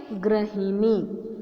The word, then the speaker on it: गृहिणी: इसका उच्चारण किस तरह से किया जाता है, गृहिणी।